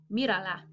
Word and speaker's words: mírala: ¡Mírala ahora! Ah! Notice here how I said mírala, mírala. Now, this actually should be an accented I. Mírala ahora because my command is 2 syllables, mira.